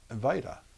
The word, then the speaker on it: Wajda: all time the Spielberg of Poland is an vaa which is spelled the same way as my name WTA